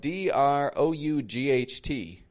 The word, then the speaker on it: drought: interesting one isn't it I'm not really pronouncing it the way that it's spelled d r o u g HT drought the G and H are totally disappearing the te can be made into a stop te drought not even released and that o you are getting that ow ow kind of sound s there are a